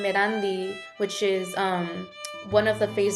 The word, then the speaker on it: Erandi: And so for a long time, my name Erandi, it's not a common name here, not something that's normalized. And so I remember, like, for years, people would mispronounce my name. They would pronounce it Arandi.